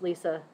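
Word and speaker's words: Lesa: or whatever and yes it is spelled l-e-s-a but it's pronounced Lisa the story is when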